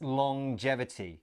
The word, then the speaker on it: longevity: live longer yes now take note about the pronunciation of this word it's a little bit strange it's longevity so we have the at the end of long as normal but then there's this J sound as well long jevity let's look